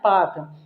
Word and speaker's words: Palk: तो ये जल संधि, इसका नाम है पाक। इंग्लिश में इसको बोलते हैं PALK, एल इसमें साइलेंट है, तो पाक स्ट्रेट बोल सकते हैं इसको।